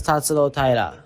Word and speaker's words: Tatsuro Taira: name is tat Tyra my name is tatsuro Tyra tatsuro tat right so I've been saying tatsuro right so I've been I've been emphasizing the wrong syllable so we'll see how they handle it this weekend but it's tatsuro Tyra and perhaps important because he's like 15 and0 so tatsuro not tatsuro and I know Jason